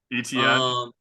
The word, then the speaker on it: Etienne: Travis Etienne or whatever, however you pronounce it. ETN. At ETN, there you go.